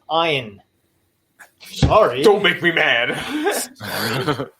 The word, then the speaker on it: Ayn: Yeah, and even Ayn Rand. People go, Ayn Rand. I did it, yeah. Ayn Rand. One of my best friends like, hey, Ayn Rand this. I'm like, it's Ayn.